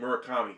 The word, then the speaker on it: Murakami: Murakami. Thank you. Okay. I just couldn't remember the exact pronunciation or spelling of his name, but I knew the guy.